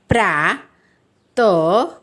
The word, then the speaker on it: प्रातः: फिर आ की मात्रा प्रा, त, ह। ह मतलब जो अह की मात्रा है वह। तो उच्चारण होगा प्रातः।